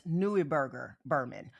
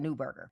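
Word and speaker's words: Neuberger Berman: And depending on where you're from, some people do pronounce it as Newberger Burman. Okay? But I am American, so I pronounce it Newberger.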